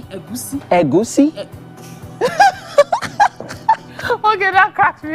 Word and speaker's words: Egusi: Egusi is fine because of non-Yorubas, but if you want to pronounce the soup the way it is, as a Yoruba person, you have to say go, si, Egusi, Egusi.